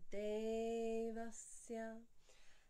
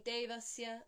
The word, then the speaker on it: Devasya: You can hear the difference between Devasya and Devasya. This is something we wouldn't necessarily know if we were reading the English transliteration, because we don't have a difference in the count of vowels in the same way.